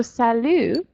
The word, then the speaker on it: salut: in comparison okay so sallu a more casual greeting that you might say to friends you don't pronounce the last letter in French usually and mr.